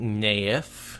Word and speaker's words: Nynaeve: all this time ain't Nayef is how it's said in the audio books that's what everyone seems